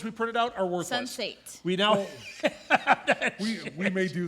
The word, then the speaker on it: Sense8: It's SEN, on like the number eight.